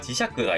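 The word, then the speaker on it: 磁石: 거의 없는데 이 우리가 흔히 쓰는 단어 중에 지샤크, 자석이라고 하는 단어에서는 샤크라고 읽히니까 이 시는 음독으로는 세키라고 읽히는 게 99%인데 샤크라고 읽히는 경우가 지샤크가 있구나 라고 하는 것 정도만 파악을 해두시면 됩니다.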